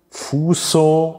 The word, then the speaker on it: fuso: vondere geschmolzen Fuso und die Spindel Fuso fo mit stimmlosem S es ist natürlich jetzt